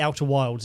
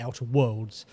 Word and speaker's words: The Outer Worlds: It's not the Outer Wilds, it's the Outer Worlds. The Outer Wilds is a completely different game.